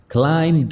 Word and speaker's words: climb: Climb down the tree. Climb down the tree. तो word है climb, CLIMB। इसको हम प्रोनाउंस करेंगे climb। बी को हम प्रोनाउंस नहीं करेंगे, बी यहाँ पे साइलेंट है।